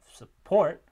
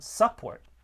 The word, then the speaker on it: support: falls on that syllable so that's why we get the stress on support rather than support and that's a pretty